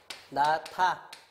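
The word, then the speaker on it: 놓다: 요거는 발음이 나타 이렇게 나는 거 아닙니까? 이번에는 어떻게 되냐면 히읗이 디귿하고 요렇게 붙어가지고 티읕으로 요렇게. 그치? 그래서 요거는 뭐가 되냐면 히읗 디귿 붙어갖고 티읕 됐으니까 자음 축약 거센 소리 되기 현상 이렇게 되는 거지.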